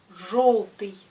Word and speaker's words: желтый: Alors, ce mot se prononce желтый, желтый, pas желтый, c'est желтый.